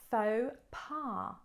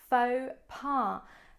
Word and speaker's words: faux pas: an entrepreneur number two faux pas faux pas listen to the pronunciation don't look at the words because they don't really look like they sound so faux pa another